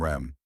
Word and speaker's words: REM: he explained to me ADM and RM pronounced Adam and REM considering your placement in